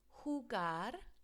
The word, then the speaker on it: jugar: So remember, a J sounds like an H in Spanish. Jugar al fútbol.